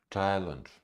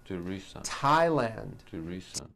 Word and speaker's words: Thailand: is a spice and names are spelled with a th they are pronounced as if they were spelled with a normal teeth like that and these words are Thomas Thompson Teresa Thailand Theresa Theresa Thailand Thames